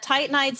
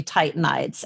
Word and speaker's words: Titanides: So it's the Titanides Mentoring Collective, which nobody can spell.